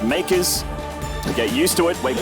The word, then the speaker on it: MKERS: It is Makers ShoWTimE. That's right, guys, MKERS. The team is pronounced Makers.